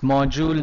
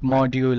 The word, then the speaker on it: module: that reading module yes this pronunciation is module not module ok how many pronunciation